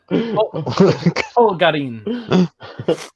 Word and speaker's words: Polgarin: People say Polgarin. Right, Ryan Caturdi. Polgarin. Well, that's how you say my name.